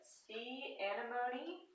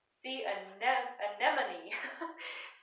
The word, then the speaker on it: sea anemone: page number over here see antimony sorry I think I keep forgetting how to say that word sea anemone sea anemone I want